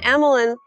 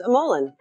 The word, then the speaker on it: Amolen: This is good because I've said Amlan all the time. So now I can go back and say I learned something that the pronunciation is aman.